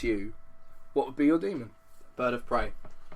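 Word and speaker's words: daemon: It's known as a demon, but it's Got the A spelt thing. it's spelt differently, but it's pronounced demon apparently.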